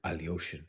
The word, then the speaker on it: Alekhine: chance to play with Alekhine, who Kostya will pronounce something like Alyoshin, you know, something fancy like that.